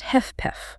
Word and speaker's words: HFpEF: Yes, this was specifically for heart failure with preserved ejection fraction often called HFPF, pronounced heff.